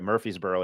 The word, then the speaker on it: Murfreesboro: That's right, Murfreesboro. It's spelled very, very differently.